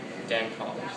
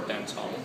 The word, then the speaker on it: Dancong: So you can get a really great, light-tasting dancong, or dancong, however you want to pronounce it, Phoenix oolong.